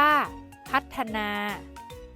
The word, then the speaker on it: พัฒนา: แม่ กด ที่ มี ฒผู้ เฒ่า เป็น ตัว สะกด ออก เสียง เป็น เสียง ด เด็ก ได้ แก่ คำ ว่า พัฒนา อ่าน ว่า พัฒนา วิวัฒน์ อ่าน ว่า วิวัฒน์ อัฒจันทร์ อ่าน ว่า